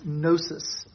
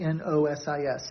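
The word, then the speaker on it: gnosis: basic idea of gnosticism was nosis um that's spelled g n o s i s nosis which they believe was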